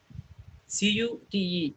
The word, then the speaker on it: cute: Is the CUTE is a word which represents as ka and U. Cute.